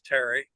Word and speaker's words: Thierry: And also, is it pronounced? Hey, Terry. That's Terry. Terry. Okay, it's Thierry, but it's Terry.